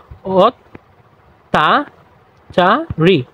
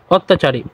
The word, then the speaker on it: অত্যাচারী: সাথে আছে তাহলে আমরা এই ত কে দুইবার উচ্চারণ করব তাহলে এই দেখো তোমরা